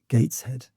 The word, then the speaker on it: Gateshead: How would you pronounce the word gates head? Gates. Right. There's a little bit of like an e before the air there.